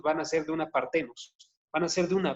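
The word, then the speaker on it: παρθένος: Partenos. Como se escucha, nada más pónganle una H entre la T y la E, partenos, ¿sí?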